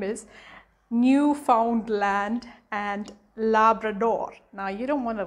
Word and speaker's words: Labrador: is newfoundland newfoundland and labrador it's not um la brador it's labrador so it's newfoundland newfoundland